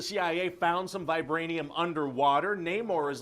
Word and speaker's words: Namor: oh it's freaking Neymar Namor Namor namore how do you pronounce that you know everybody in the movie is going to say it differently I guess there's no wrong way to say it no I'm going to pronounce it yeah more okay no maybe there